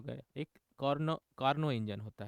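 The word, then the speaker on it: Carnot: कार्नोट engine भी वैसे ही है, जिसको हम लोग कार्नोट ना बोल के कार्नो बोलते हैं, टी साइलेंट है, ठीक है ना।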